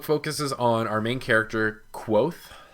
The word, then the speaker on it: Kvothe: on our main character quoth which I have to continually remind myself is not pronounced Cove off because that I pronounce it the first time I read it through but he starts off